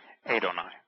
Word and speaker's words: Adonai: And they would put diacritical marks on it to pronounce it Adon, and therefore, when it's my, it would be Adonai.